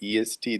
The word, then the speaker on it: est: when we pronounce that EST, the T is Yes, to be T is not like in the English, but the soft T, est, in Latin.